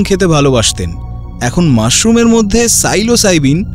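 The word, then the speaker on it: psilocybin: ভালোবাসতেন এখন মাশরুমের মধ্যে সাইলোসাইবিন হ্যাঁ বানানটা অদ্ভুত পি এস আই এল ও সি ওয়াই বি আই এন যাকে অনেকে ম্যাজিক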